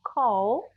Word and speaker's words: called: voiced sound voiced consonants i don't say el but i say this sound here so if the word is called the verb is called i say code called in the past you pronounce it as a d d can i have